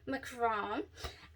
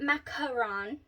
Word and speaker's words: macaron: peach prosecco chrome okay it's not macaron it's macron okay awesome or macron all right so uh